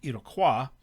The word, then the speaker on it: Iroquois: french pronunciation would be iroquois i say iroquois because it's it's the americanized pronunciation their actual name is